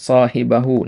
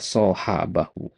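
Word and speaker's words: صاحبه: Nah, kemudian shohibahu. Nah, ini perhatikan ya. Shohibahu. Tadi antum baca shahabahu.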